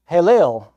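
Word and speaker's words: Helel: It is pronounced Halel. It sounds similar to another Hebrew word, Hallel, meaning praise.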